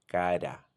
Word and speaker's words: cara: So for example, we would say cara, cara, cara. Can you say cara? Da da da da da. It's a very brief tap done with the tip of your tongue right behind the upper teeth.